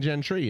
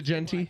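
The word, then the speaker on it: Jeanty: See, I kept saying Gentry, and I felt like I was wrong saying it. Austin Genty. It's Genty? J-E-A-N. Is it Genty?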